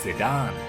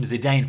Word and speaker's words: Zidane: to Final Fantasy Dissidia his name is actually pronounced Sudan I can't lose to you at the dawn honestly I've been calling him Zidane for so many years now and nothing is